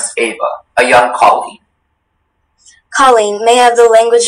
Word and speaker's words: colleen: Colleen, may I have the language of origin? Colleen is from Irish Gaelic. Sorry, thank you. Colleen, C-O-L-L-E-E-N, Colleen.